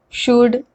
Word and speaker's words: should: the rule first l is not pronounced when it comes after vowels a o and u let's look at some